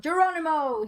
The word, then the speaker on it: Geronimo: Geronimo. He said Geronimo. Yes, Jerome. I can't pronounce that. Geronimo. Geronimo. You're switching the M and the N.